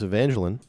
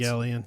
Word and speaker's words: Evangelion: Um is Hideeco Ano uh the founder of Neon Genesis Evangeline. Nice. Another big anime Evangeline. Maybe I'm saying it wrong. I will receive death threats. Evangelion.